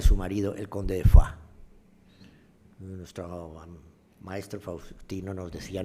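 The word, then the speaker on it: Foix: marido El conde de foa nuestro maestro Faustino nos decía no se dice foa se dice F porque foa es un en aquella época en este zona no se hablaba francés se decía fois bueno fo fo es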